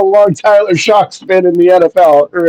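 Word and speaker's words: Shough: James, first one being a quarterback, Tyler Shaw. Shock. You'd be shocked on how it's pronounced.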